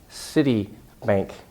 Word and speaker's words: Citibank: people to misunderstand you a city not she that city but City Bank City Bank it's really important and fourteen I think